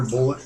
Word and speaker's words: Bulleit: think it's just Bullet. I haven't heard Bullet. it pronounced.